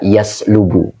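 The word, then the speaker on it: يَسْلُبُ: satu Saba yusallibu ya kalau saya baca yaslubu membajak bukan membajakkan Ya beda membajak dengan membajakkan itu beda kalau dibaca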